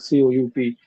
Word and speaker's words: coup: Like c o u p. it's not coop, it's coup.